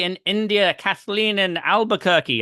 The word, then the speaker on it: Albuquerque: in India Kathleen and Albuquerque I said it right I'm so proud